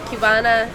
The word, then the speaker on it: qbanaa: So qbanaa is the Irish pronunciation for how you'd say like a Cuban. So they pronounce it like if it was spelled a Q instead of like a C.